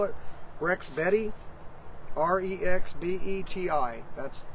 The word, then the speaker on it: Rexbeti: I'm gonna call it Rex Betty r-e-x-b-e-t-i that's how I'm gonna pronounce it really nice 11 inch